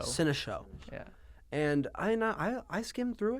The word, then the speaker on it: Cinéshow: Cinéshow, how do you pronounce? Like Cinéshow. Cinéshow.